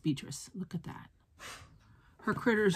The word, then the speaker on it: Beatrix: sides are they called beatrix her name is beatrice i don't know why i'm calling it beatrix because it's spelled with an x but it is pronounced beatrice look at that her